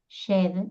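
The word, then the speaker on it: Djed: Y hay otro símbolo también que se lo ve al faraón levantando un pilar que se llama el pilar Shed, que lo voy a escribir porque si no, no me van a entender, porque es muy difícil pronunciar un idioma muerto, ¿no?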